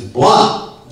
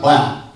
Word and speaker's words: Blount: say, I'm sorry, but it's Blunt, not Blount. It should be Blount. I mean, I know it should be Blount. It's spelled Blount, but it's pronounced Blunt.